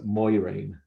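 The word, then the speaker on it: Moiraine: wrong because like um apparently moraine is going to be pronounced as moirine okay that's all right yeah that's uh how rafe judkins was pronouncing this a name at comic con so uh that's that's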